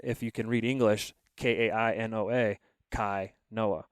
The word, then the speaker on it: Kainoa: Kainoa. How do you spell that? And then they'll go to read it back to me, and they butcher it. Yeah. Like bad. And I'm like, well, Kai, Kai, Noah.